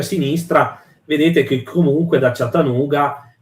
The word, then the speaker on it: Chattahoochee: Allora, si dice, se posso se posso, Michele, si pronuncia Chatta- si pronuncia Chattahoochee.